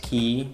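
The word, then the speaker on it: Kea: not that familiar with key. And also there is this ISC DHCP. And then there is, I don't know how to pronounce it. I think it's key, like C, but maybe I'm wrong.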